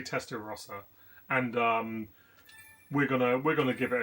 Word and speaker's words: Testarossa: And we're obviously going to go with the Ferrari Testarossa because, or Testarossa, depending on I guess how you want to pronounce it. But I say Testarossa, and we're gonna give it a go now.